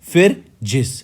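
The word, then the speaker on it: Phryges: then if we talk about Fergus it is pronounced as ferjis all right then this if question asks where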